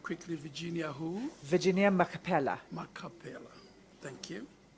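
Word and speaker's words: Machpelah: What is your relationship to Virginia Macapella? Virginia is my sister. Was Virginia at Life Esidimeni? Yes, she was at Randfontein. In front of you, I'm sorry, Counsel, you went quickly. Virginia who? Virginia Macapella. Macapella.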